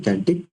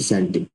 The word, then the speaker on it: Celtic: ठीक है, तो बिना किसी देरी के स्टार्ट करते हैं कैल्टिक रिवाइवल या फिर सेल्टिक। ठीक है, दोनों एज अब जैसा आपको ठीक लगे प्रोनाउंसिएशन आप कैल्टिक या सेल्टिक।